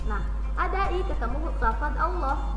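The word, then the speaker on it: الله: Nah, ketika baca Allah bukan Allah bacanya ya, tapi pas waktu masuk ke lamnya itu diganti menjadi loh ya, seperti itu bacanya Allah. Sehingga di sini ada keterangan tafkhim. Tafkhim itu artinya tebel, jadi seolah-olah mulut kita tebel ya.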